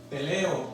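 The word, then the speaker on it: τελέω: Para que usted vaya entendiendo un poco acerca de estas palabras, analizando el diccionario griego, el significado de consumado se pronuncia teleo en el idioma griego y tiene una definición.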